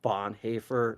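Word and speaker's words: Bonhoeffer: important and that's cost of discipleship by Dietrich Bon haer it's spelled b o n h o e f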